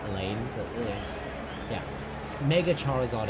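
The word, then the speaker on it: Alain: He did disrespect on uh Allan. Elaine. I'm just going to call him Allan. I know it's pronounced Elaine, but yeah.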